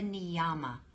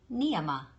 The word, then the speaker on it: Niyama: that is a mispronunciation it's not the niama it's that every syllable here is light every syllable is light it's neema can you say that